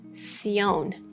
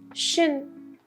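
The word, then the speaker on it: -tion: And number 15, I chose this one because especially in European countries, many people may pronounce tion as tion. But in English pronunciation, it is shin, shin, sh, plus schwa, plus n.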